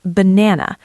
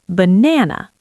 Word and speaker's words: banana: Look at the word banana. We don't say ba na. Three strong beats. No, we say banana. The first and last a become schwas. They are weak.